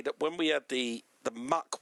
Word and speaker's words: Mach: possible and said, well, let's just try and spell it in your head, shall we? Spelling your head, M-O-C-H, mock. H. Yeah, H. M-O-C-H, which is mock. Now spelling your head, M-A-C-H. It's Mac.